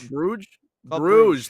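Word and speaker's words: Brugge: what' you say bru g club bruge bruge that's what it is okay all right figured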